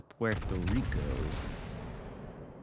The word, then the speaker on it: Puerto Rico: All this time I could have shot this Puerto Rico. Or Puerto Rico. As that is the correct pronunciation.